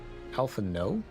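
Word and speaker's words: Alphinaud: yiri Alan Al Al ends with a no sound the D is silent Alpha no so you're saying it's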